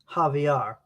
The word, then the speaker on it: Xavier: by a channel from brazil francisco candido javier javier looks like xavier but in portuguese they would pronounce it javier oh man i'm blanking on the name